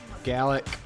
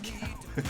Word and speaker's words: Gallic: Gallic. It's not Gallic. Rhymes with phallic.